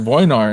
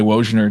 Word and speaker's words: Wojnar: what my name was, and they said Wojnar, and I was like, excuse me? And then I was like, wait a second. Oh, that's me. And so that's how you would natively pronounce my last name. So I'm trying to say that more. Yeah. But my knee-jerk reaction is always to say Wojnar, just because that's what I grew up with for 30 years.